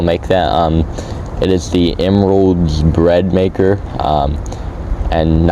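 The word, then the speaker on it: Emeril: It is the Emerald's bread maker, and it's not spelled like emerald.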